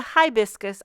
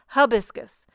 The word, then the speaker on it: hibiscus: to say I think I grew up saying habiscus around here in these parts we say habiscus but I I Googled the pronunciation and they want to tell you to say hi biscus so potato potato uh